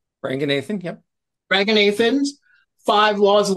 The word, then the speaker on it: Ranganathan: It is a riff and expansion of, and I'm going to say it wrong, Ranganathan. Ranganathan, yep.